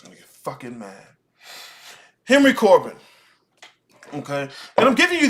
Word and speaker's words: Corbin: So I'm saying Corbin because I'm pronouncing it in English. In French, it's Corbin. Right?